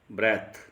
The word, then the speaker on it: breath: यहाँ पर देखिए BREATH ब्रेथ, यहाँ पर नाउन का प्रयोग किया गया है। अगर TH के बाद E और लगा देते हैं तो इसका प्रोनाउंसिएशन, इसका उच्चारण बन जाएगा ब्रीथ। तब यह एज ए वर्ब कार्य करेगा।